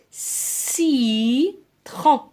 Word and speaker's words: citron: قلنا le C plus E, I, Y se prononce SE. Donc le citron.